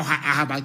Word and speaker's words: Asaba: They stayed at Asaba, or Ahaba to pronounce the correct name, and they came to Omai in Ibeku.